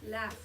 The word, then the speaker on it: laugh: So the G-H, what sound does it make? Go. It makes the laugh. What sound does it make? It makes the f sound.